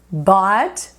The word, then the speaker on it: bought: A pronúncia é simplesmente OT para todo mundo.